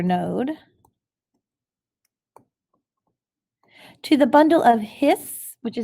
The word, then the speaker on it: His: to the bundle of hiss which is actually pronounced like like it has an extra s on it okay the bundle of hiss the right and left